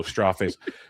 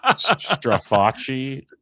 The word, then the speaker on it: Straface: It rhymes with Versace in case it comes up. Oh, straw face. So, it's Straface.